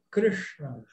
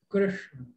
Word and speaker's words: Krishna: falei, a regra é, toda vez que você vê pontinhos embaixo da letra, enrola a língua faz assim, ó. Então, você vai tentar começar a pronunciar dessa forma. Krishna, Krishna, Krishna.